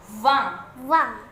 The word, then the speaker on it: vingt: Yang ke-20 vingt. Dalam pengucapan 20 itu gigi atas berjumpa dengan bibir bawah. Vingt. Itu V-nya harus kedengaran ya.